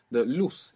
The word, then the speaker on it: luz: And the word luz, L-U-Z, so actually this Z would be pronounced th in most of Spain. Luz. Ilustrar. But in the rest of Spanish-speaking world, Ilustrar.